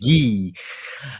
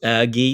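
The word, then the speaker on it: Guiu: Guy. That's correct. Guy.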